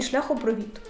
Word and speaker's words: шляхопровід: також можу сказати що на оцей від наголос падає у двох словах відгуки і шляхопровід третя людина - Олексій